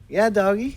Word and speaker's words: YaDoggie: YaDoggie.